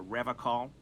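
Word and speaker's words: Revachol: to stay strong for rev call he pronounces rivercon with a hard k unlike other people serious question time this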